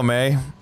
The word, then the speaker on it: Mae: and I did it um oh man hello may yeah I think I'm pronouncing that wrong give me one second because